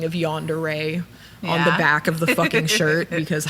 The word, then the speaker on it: yandere: John Deere. John Deere or That's probably how my mom would pronounce it. That's how most people's moms have pronounced it.